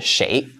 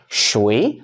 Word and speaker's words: 谁: Point two is, shui sounds like shui, water. If you pronounce it with a wrong tone, people may not understand you.